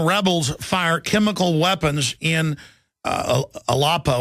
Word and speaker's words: Aleppo: Syrian rebels fire chemical weapons in Aleppo, or Aleppo, how they pronounce it, killing at least 25, the government is saying.